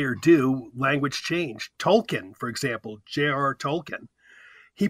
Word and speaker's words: Tolkien: despite what you say or do language change Tolkien for example J.R Tolkien he pronounced his name Tolkien um he's dead and